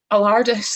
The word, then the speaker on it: Allardice: Allardice, like the Tardis.